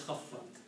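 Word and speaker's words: خفّت: Khafafat is written as khaffat and pronounced as khaffat.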